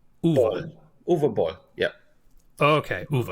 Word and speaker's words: Boll: the same question because I don't want to mispronounce your name. It's Uwe Uwe. Boll.